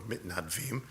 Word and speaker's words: mitnadvim: And so we probably should have called volunteer Shabbat last week Shabbat mitnadev or mitnadvim, because that's how you say it in modern Hebrew.